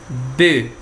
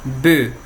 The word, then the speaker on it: bœufs: E daí o plural, les bœufs. Mesma coisa do ovo lá, les bœufs, sem pronunciar o F.